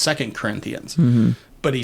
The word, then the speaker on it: 2 Corinthians: and he said like 2 Corinthians, and anybody who's been to either a Bible study or to church or anything like that knows it's pronounced 2 Corinthians.